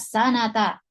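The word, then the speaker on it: سنةً: Dia tidak didahului dengan fi, ya, maka kita bacanya sanata.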